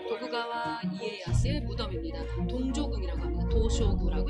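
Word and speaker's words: 東照宮: 도쇼구라고 일본어로는 발음을 합니다.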